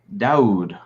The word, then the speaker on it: Dodd: guest samaya dodd hi it's not spelled how it's pronounced so what is it how do you say it dowd okay dude andy what's